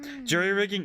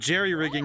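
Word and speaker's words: jury-rigging: be the spelling but Jerry rigging is the way you say it I see that's pretty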